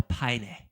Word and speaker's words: Paine: Paine, no, it's Paine, bro. Come on. Paine. It's spelled like that, but you're Spanish.